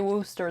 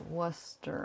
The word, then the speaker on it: Worcester: We say Worcester, though it's spelled Worcester.